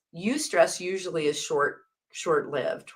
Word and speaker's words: eustress: So there's eustress. It's spelled EU stress.